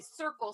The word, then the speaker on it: Cirkul: CJ bought me a Circle, CIRKUL water bottle system. Spelt incorrectly. Yes, CIRKUL. Circle. But it's yes, it is spelled incorrectly, but it's ridiculously cool.